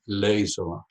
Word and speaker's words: Leisola: But in Finnish language, you always have the accent of the first syllable, so I'm Leisola, not Leisola.